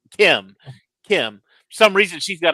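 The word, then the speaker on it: Kh'ymm: KH apostrophe YMM. But it's pronounced Kim.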